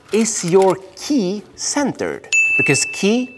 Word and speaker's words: 気: Because ki is the Japanese pronunciation of chi, which is Chinese.